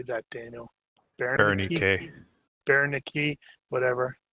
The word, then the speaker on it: Ronnke: Ronnke.